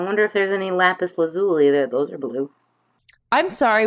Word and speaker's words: lazuli: I've never known how to pronounce it, but It's lazuli, but I really love.